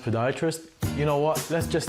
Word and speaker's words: podiatrist: Huss, a paediatrist. It's actually pronounced podiatrist.